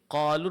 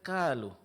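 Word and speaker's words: قالوا: huruf ee kaf ya seperti qalu dibaca kalu ya dibaca kalu ini kadang ee terjadi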